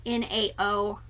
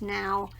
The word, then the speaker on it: Nao: see it as um nao i think it's pronounced now it's just part of